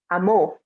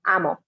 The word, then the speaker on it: amó: So it's going to be Sara amó aprender arte. And remember, again, pronouncing that O strongly, because otherwise it's amo. And amo means I love, but we're trying to say Sara loved.